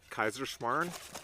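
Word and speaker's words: Kaiserschmarrn: on a classic austrian dessert i think it's pronounced kaiserschmarn traditionally it would be served with preserved fruit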